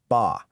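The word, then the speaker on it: 八: The number 8 is pronounced ba. Now, here's where the magic comes in. That sounds incredibly similar to a totally different word, fa.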